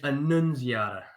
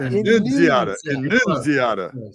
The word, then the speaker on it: Annunziata: Annunziata. Close. We're close. You said it. It's Annunziata, not Annunziata.